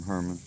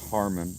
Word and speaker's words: Harmon: I mean, that's usually that's kind of what I'm doing in long form, Herman. That's actually pronounced Harmon.